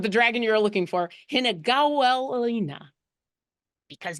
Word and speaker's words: Hinagawelina: For those of you who would like to know how to pronounce and or spell the name of the dragon you're looking for, Hinagawelina.